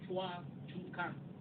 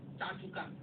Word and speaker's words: Chua Chu Kang: In Singapore, we have the word called Chua Chu Kang. But the pronunciation came Cha Chu Kang.